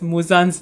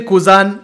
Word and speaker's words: Muzan: Yes, he still can't pronounce Muzan's name properly. Why is it so hard to say Muzan? No, he says. Does he say Kuzan?